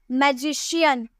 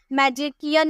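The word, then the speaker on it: magician: जैसे मैजिशियन, मैजिशियन बोलते हैं, मैजिशियन या मैजिकियन नहीं बोलते हैं, मैजिशियन।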